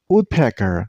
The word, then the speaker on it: woodpecker: Woodpecker, not woodpecker. Don't stress on the wrong syllable. Stress on the first one.